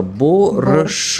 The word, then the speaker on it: борщ: Бачиш, тут прямо вимова українська. Борщ.